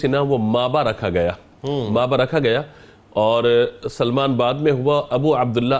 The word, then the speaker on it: سلمان: کی اصلاح چاہتا ہوں۔ بعض لوگ آپ کو سلیمان پڑھتے ہیں، سلیمان نہیں بلکہ سلمان ہے، یہ یا کے ساتھ نہیں ہے، تو اس کو تلفظ